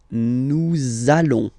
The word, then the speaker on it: nous allons: between the words, so it does mean that you will have to pronounce this z sound, okay, listen to me, nous allons, nous allons.